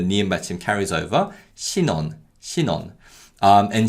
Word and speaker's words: 신혼: The word for newlyweds is 신혼, 신혼. Again, the ni은 받침 carries over. 신혼, 신혼.